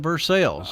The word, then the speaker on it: Versailles: France the versaille but we call it Versailles and that's our pronunciation of it it was settled by